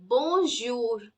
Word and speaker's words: bonjour: would be as in in English we have pleasure measure treasure try saying these words the the sound that